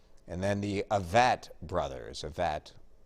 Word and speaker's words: Avett: Avett rhymes with Corvette.